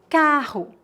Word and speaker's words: carro: Entre duas vogais, também existe o uso de dois R's. Neste caso, a pronúncia é a mesma do R em começo de palavras, R, como a letra H no inglês.